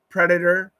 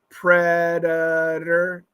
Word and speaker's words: predator: predator and smarter yeah we can have flap Tes predator and smarter predator predator predator smarter those are with flap T's it's tough so Alex